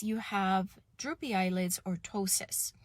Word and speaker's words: ptosis: have droopy eyelids or ptosis as a silent p ptosis so there's so many